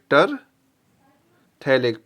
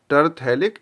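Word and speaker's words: terephthalic: ठीक, इसका नाम क्या है, टरथैलिक, PH साइलेंट है इसमें, टरथैलिक एसिड।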